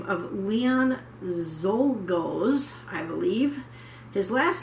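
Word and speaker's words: Czolgosz: by a man by the name of leon zolgos i believe his last name is spelled c z o l g o s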